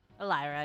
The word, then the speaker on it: Elira: So, is it Elira? Elira, yeah, that's how it's supposed to be pronounced.